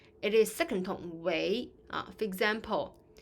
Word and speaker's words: 为: Because 为 here function as a verb, so the pronunciation is not fourth tone, it's not 为. It is second tone, 为.